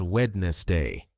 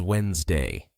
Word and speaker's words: Wednesday: to pronounce it as wedness day with three syllables but in real English that middle anas sound disappears. The correct pronunciation is Wednesday just two syllables.